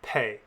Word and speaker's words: pe: Pe is another one of our Beged Kefet letters. Without a dagesh, it's written with a sound we can continually pronounce. That sound is the F, as in fit. With a dagesh, it has the sound of P, as in pit.